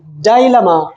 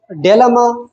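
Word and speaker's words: dilemma: इसके प्रोनाउंसिएशन आप दो किस्म के कर सकते हैं, डेलमा, डेलमा भी आप कह सकते हैं और डायलमा, लेकिन मैं डायलमा करता हूँ। दोनों प्रोनाउंसिएशन से ये इसमें कोई भी मसला नहीं है, अगर आप डेलमा कहें या डायलमा कहें, दोनों जो है ऑथेंटिक प्रोनाउंसिएशन है।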